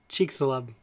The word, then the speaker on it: Chicxulub: There's several articles on how do you pronounce it. Like this. Chicxulub.